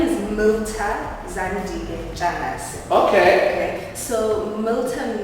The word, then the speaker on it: Mirta: I just don't like the way you pronounce my name. Okay. How must I pronounce your name? Mirta. Oh, okay. So the R is silent.